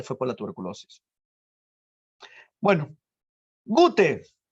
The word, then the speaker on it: Goethe: La RAE nos dice que si no sabes alemán, lo pronuncias como, ¿no? con tu lengua natural. ¿Y cuál es nuestra lengua materna? El español. Y el español nos dice que dice Goethe. No te das problemas. No lo pronuncies como si fuera inglés. Algunos lo pronuncian Goethe. No, eso es inglés.